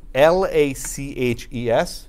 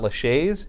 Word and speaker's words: laches: six ones called laches it's spelled la CH es so it's not Lachey's its laches laches is similar to